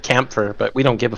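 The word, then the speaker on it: Kämpfer: It's supposed to be Kampfer instead of Kampfer, but we don't give a fuck.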